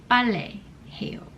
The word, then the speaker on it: 빨래: So now I never forget, even though I can't pronounce it properly because of the double beat, but ballet 해요.